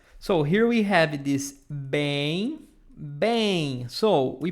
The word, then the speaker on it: bem: You have to pronounce it longer.